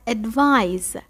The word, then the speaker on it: advise: کلمه بعد advise. Advise. به این کلمه دقت کنید بچه ها. S آخر این کلمه Z تلفظ میشه. S تلفظ نمیشه.